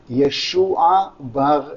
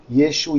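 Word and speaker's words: ישוע: wrote here yeshu you there are two ways to pronounce jesus in hebrew and aramaic yeshua yeshua apparently they realized it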